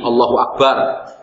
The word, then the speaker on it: Allahu Akbar: Seperti tadi Allahu Akbar, ya kan? Diucapkan dengan ada tanya misalnya, atau dengan memanjangkan huruf ba-nya, padahal ba bukan dibaca panjang, ya kan? Atau dengan menambah huruf waw, atau pengucapannya menjadi waw.